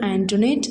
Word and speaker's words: Antoinette: But കുഞ്ഞിച്ചിരുത learned from Antoinette that the name ought to be pronounced Antoinette.